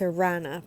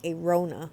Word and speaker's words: Aarona: She goes on to say, it's Aarona, pronounced like piranha without the P, and that's why that joke's in my stand-up. She kept calling me Aarona, like Corona.